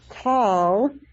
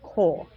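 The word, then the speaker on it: כל: it, and lamed, and it would normally be pronounced kal, but because it's a kamatz katan, which is ironic because it is bigger when it's usually marked, kamatz katan is pronounced kol.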